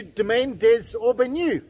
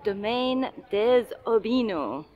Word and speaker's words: Domaine des Aubineaux: everyone, welcome to Domaine Des Aubineaux.